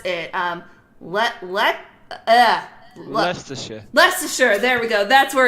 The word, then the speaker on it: Leicestershire: I don't know how to pronounce it. Leicestershire. Leicestershire.